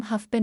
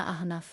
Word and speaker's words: আহনাফ: আহনাফ বলে, তরি কতবার বলেছি তোমায় আমার নাম হাফপেন না আহনাফ। আহনাফ।